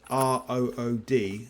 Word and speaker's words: rood: Rood screen is spelled r o o d. So, you might be mistaken to say rod screen, but it's actually pronounced rood as in r u d e.